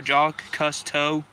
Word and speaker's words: Jacques Cousteau: Josh Cousteau? No, Jacques Cousteau.